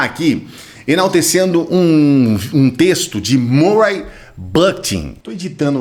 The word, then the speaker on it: Murray Bookchin: Eu quero começar aqui enaltecendo um texto de Murray Bookchin. Estou editando o vídeo aqui, eu acho que essa pronúncia ficou estranha, porque é Murray Bookchin, né? Meio de book, uma coisa assim, desculpe.